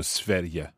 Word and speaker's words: Sverige: So, S-V-E-R. I-G-E. So the G has a Y sounding in there. Sverige. Yes, because we have an E there, we say Y. Okay, so Sverige.